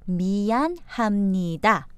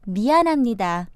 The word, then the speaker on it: 미안합니다: So should we practice the pronunciation of them now, Richard? First, we have 미안합니다. 미안합니다. Or more naturally as 미안합니다.